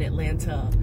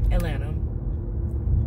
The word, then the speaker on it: Atlanta: no one says it no one pronounces like all the t's and stuff in Atlanta Atlanta anyway even though I